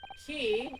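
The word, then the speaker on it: quay: A key a which is which is what Q U A Y is actually supposed to be pronounced.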